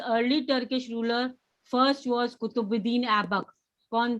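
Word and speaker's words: Qutbuddin: How to pronounce it, ma'am? Kutubuddin, Kutubuddin Kutubuddin.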